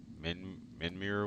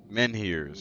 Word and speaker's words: Menhirs: Alright, Camelot wants to take your Menmir away? Whatever, however you pronounce that shit.